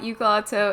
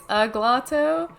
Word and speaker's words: Uglatto: Agnes Music corrected me, it's not Uglatto, it's Uglatto. Or how do you say it? Doesn't matter. How do you say it? I say Uglatto. Oh! It comes from a Devo song, and I believe they pronounce it, I think they pronounce it both ways in the song, Uglatto and Uglatto.